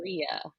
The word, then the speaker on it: Palarea: Hermione moment here, trying to make sure I pronounced your name right. This is Rich. Is it Palarea or You've got it. Palarea?